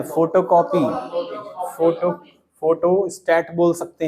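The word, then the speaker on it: photostat: अरे प्रिंट नहीं कराना है, फोटो कॉपी, फोटो स्टेट बोल सकते हैं, क्या बोल सकते हैं? स्टेट नहीं होता, फोटो स्टेट नहीं होता, स्टैट होता है, फोटो स्टैट। कभी स्पेलिंग पढ़ लेना, ई नहीं लगता लास्ट में।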